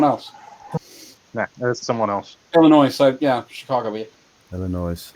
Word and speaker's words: Illinois: Illinois. So yeah, Chicago. Yeah. Illinois. Yep. Yeah. So that's -7, isn't it? What part of Illinois? -6. The S is silent, 5, asshole.